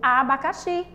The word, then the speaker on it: abacaxi: Isso mesmo, abacaxi, né? O abacaxi. A sílaba tônica, abacaxi. Onde é que está a sílaba mais forte? O xi, né?